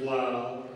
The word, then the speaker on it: Lyle: It's spelled. Last name is Lyle, L-Y-L-E.